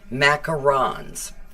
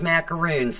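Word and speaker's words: macarons: pattern tonight is called Macar arons I thought it was macaroons it's not I'm not pronouncing this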